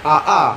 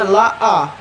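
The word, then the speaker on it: لا: Ketika lam dan alif itu bertemu, kadang-kadang kita bacanya AA, padahal itu ada lam dan alif, bacanya la'a.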